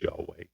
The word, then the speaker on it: Yahweh: It is pronounced Yahweh.